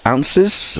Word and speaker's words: oz: 32 ounces for the coffee pot. Ounces again is very old style of measurement, but yeah, people do still use that, and it's often written OZ but pronounced ounce or ounces.